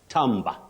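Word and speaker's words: timbre: that quality of sound tber not timber timber is for wood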